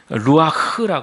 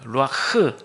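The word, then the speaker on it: רוח: 하면은 루아 흐라 합니다 루아흐 여기서 흐 발음할 때는 목에 있는 가래를 다 끌어올려서 발음하는게 한번 해보시면 좋을 것 같아요 루아이 한번 해보실까요 루아 맞아요 그게 맞 정확한 발음이 히브리어 발음 중에 그냥 우리는 흐 이래가지고 히자 루아흐 이렇게 하는데 그게 아니라 히브리어는 루아 이렇게 아주 강하고 세게 발음하는데 이것이 바로 바람이란 뜻이고요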